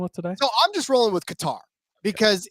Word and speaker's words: Qatar: So I'm just rolling with Qatar because it's cutter, it's gerter, it's like there's so many different ways for I think that's the one I've heard the most.